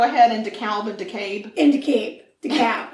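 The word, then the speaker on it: DeKalb: decator decab deur and it's weird cuz it's decab but it's de k a lb yeah or deal but that's not how they say it de Cal decator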